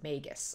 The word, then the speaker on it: magus: Okay, yeah, I was saying it very wrong. It's magus, apparently. So, apologies to those of you guys who are probably screaming at the screen every time I pronounce it. So it's magi and magus.